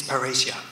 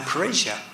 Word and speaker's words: parrhesia: And she Charlène Biondi, suggested to me that really a good term for what Snowden does is parrhesia. Now parrhesia, I'm speaking Greek.